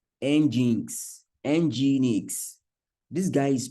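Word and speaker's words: nginx: have one called Apache and the other called engin Enix this guy is pronounce like um let me put it somewhere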